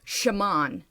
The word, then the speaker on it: Shamaun: But one thing I do want to ask, though, is how do you pronounce it? Shamaun.